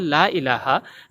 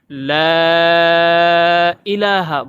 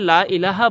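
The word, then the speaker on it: لا إله: কালিমা তাইবাতে অনেকে বলে লা ইলাহা। লা ইলাহা হচ্ছে ভুল শব্দ। সঠিক উচ্চারণ লাকে 3 আলিফ লম্বা করতে হবে।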